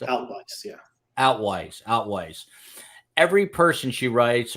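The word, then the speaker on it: Altwies: First Judicial District Attorney Mary Carmack am I pronouncing this right Nicholas if you know where altues do you know it's outlooks yeah out wise outwise every person she writes or says every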